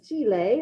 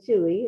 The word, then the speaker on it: Chile: Like if you now picture someone says Chile, that's how you say it in Spanish, or Chile in English.